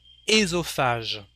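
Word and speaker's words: œsophage: a frying pan un at the beginning of a word like this part of the body we don't learn the o we just say esophage and because it's a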